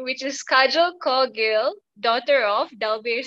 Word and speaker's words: Kajel: Oh, by the way, how do you pronounce your name, your first name? Kajel.